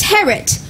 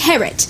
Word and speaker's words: Harriet: to miss Harriet King its hair it rhymes with parrot I'm sorry it's pronounced Herot the eye is okay Sookie her god they just like King Herod no I said King Harry